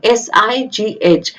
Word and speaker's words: sigh: For example sigh, S-I-G-H. GH end पे आया है तो we won't speak GH, we'll say sigh.